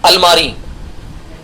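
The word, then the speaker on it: almirah: रहे हैं घरेलू सामान नंबर वन पर लिखिए अलमारी अलमारी को इंग्लिश में कहा जाता है अलमीरा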